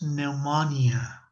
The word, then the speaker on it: pneumonia: The patient has pneumonia, right? ¿Por qué estoy diciendo pneumonia, diabetes? Porque no tengo un acento en inglés que vaya en la última sílaba.